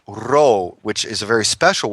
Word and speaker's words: Rho: Rho in Greek, the letter is pronounced Rho, which is a very special word, and it means it's spirit breath, coming from the Gemini that I am.